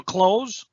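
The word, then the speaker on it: Clowes: if you're a friend of daniel close no i said his name wrong klaus did a close okay so i did say it right uh here is a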